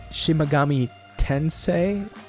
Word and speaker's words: Shin Megami Tensei: It's pronounced Shimigami Tensei.